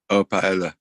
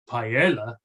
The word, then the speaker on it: paella: It's begins for P, paella. Paella. Paella. but that's not the actual pronunciation.